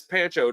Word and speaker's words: Pancho: the same way, because everybody I know always spelled it P-O-N. Poncho. And I'm like, no, it's Pancho, dude.